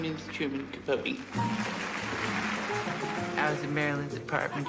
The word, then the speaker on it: Capote: I'm very bad at pronouncing things. It's Capote.